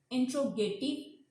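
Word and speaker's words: interrogative: आता है, जैसे हम इंट्रोगेटिव बोलते हैं, कुछ लोग इसको इंटेरोगेटिव बोलते हैं, तो that's a wrong pronunciation. इंट्रोगेटिव इज a correct.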